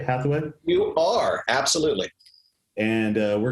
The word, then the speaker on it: Hatheway: Am I pronouncing that right? Hatheway?